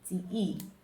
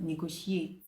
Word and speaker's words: negotiate: And then the number two word here is negotiate. Pronounce it negotiate. That is not the right pronunciation of that word. It's negotiate.